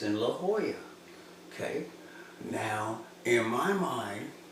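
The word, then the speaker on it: La Jolla: it's La Hoya because double L's are sometimes pronounced as a kind of a h kind of kind of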